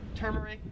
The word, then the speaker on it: turmeric: would pronounce this as turmeric however in australia they would pronounce it as turmeric like you have a tumor turmeric turmeric you get